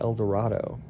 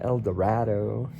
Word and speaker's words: El Dorado: local, my friend, that I can't pronounce it El Dorado. They'll know I'm a foreign, like I'm not from the state. I'm an outsider. I have to call it El Dorado, like El Dorito.